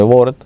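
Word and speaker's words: Worms: el concordato de de depende cómo lo queramos pronunciar, ¿no? Pero lo vamos a llamar el concordato de Ward, eh, que si lo pronunciáramos en inglés sería war, ¿no? Pero bueno, lo vamos a hacer como si fuera en alemán porque fue en Alemania, ¿verdad?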